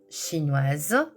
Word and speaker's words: chinoise: Attention, le S de OIS du masculin ne se prononce pas alors que le S de Oin singulier se prononce Z. chinois chinoise danois danoise luxembourgeois luxembourgeoise hongrois hongroise suédois suédoise